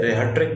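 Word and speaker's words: rhetoric: इसको कुछ साइट्स पे रेहट्रिक बोला गया, कुछ ने रेहट्रिक बोला है, तो मैं दोनों प्रनाउंस कर देते हैं, रेहट्रिक रेहटोरिक, तो दोनों ढंग से इसको प्रनाउंस किया जाता है। हमारे देश के अंदर तो रेटोरिक बोला जाता है इसको, इंडिया के अंदर रेटोरिक। तो ये एक रिटोरिक का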